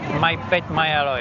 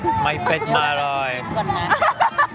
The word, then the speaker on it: ไม่เผ็ดไม่อร่อย: ไม่เผ็ดไม่อร่อย My pet, my alloy. Ah, Alloy okay. is Ah, oishi. oishi. My pet, my alloy.